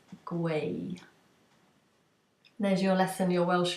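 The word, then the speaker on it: gwau: want to say um knitting in Welsh it's guay there's your lesson your Welsh lesson for the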